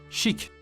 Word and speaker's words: chic: Listen to its pronunciation and repeat each time again. Shock. Shock. Shock. Word number 6, chic.